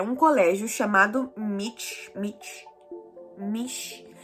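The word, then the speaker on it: Michi: Mas existe um território meio que neutro, que é um colégio chamado Mitch. Eu acho que é Mitch que se pronuncia, porque é M-I-C-H-I. Eu imagino que tenha som de T.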